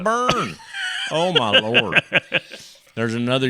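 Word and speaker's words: Boerne: a young man in Bernie burn it's not burn it's pronounced burn I'm telling you I've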